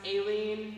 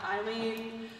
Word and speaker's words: Aileen: intro they did there my name is pronounced Aileen not Eileen um when I'm in a packed bar I have to introduce myself as Eileen with an a otherwise I have to